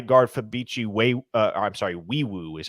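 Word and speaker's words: Nwaiwu: key additions R guard fichi we I'm sorry weu is how you pronounce his name uh if you look at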